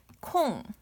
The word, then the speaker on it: 콩: So on the last video, I said 이응 is NG pronunciation, and this 코 is same. So this is 콩.